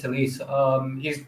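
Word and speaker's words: Telles: Yeah, and Tellez, his name is pronounced Tellez.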